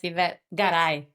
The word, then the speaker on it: Yvette Garay: Yes, Yvette Garay.